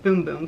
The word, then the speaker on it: Bum Bum: I know it's not Bum Bum. It's pronounced Boom Boom cream.